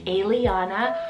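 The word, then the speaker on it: Aeliana: for the girls side i have the name aliana or alia spell a e l i a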